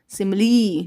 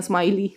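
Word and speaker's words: simile: तो क्या हो जाएगा सिमली जिसको कई बच्चे ना प्रोनाउंस पता है क्या करते हैं स्माइल बट ऐसा कुछ भी नहीं है यह है सिमिली चलो नेक्स्ट है हु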